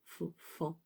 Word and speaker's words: faon: On ne prononce pas le O, fond, fan.